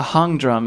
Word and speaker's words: hang drum: A hung drum. It's spelled like hang drum.